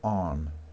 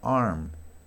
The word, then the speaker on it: arm: Como decía recién, aquí la R no es muy pronunciada, se aproxima. Entonces digo arm, arm, ¿ok?